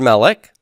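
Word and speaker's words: מלך: Well, you might think that I just take the word melech with its first syllable stress, and add im to the end like this.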